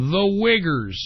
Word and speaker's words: Uyghurs: The Uyghurs. No, I'm not. That's how you pronounce it.